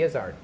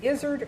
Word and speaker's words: Izzard: said, so how, okay, is it Izzard or Izzard? And he goes, it's neither. Say baseball. It's baseball. So now say Izzard. Oh, okay. You don't put any emphasis on either syllable.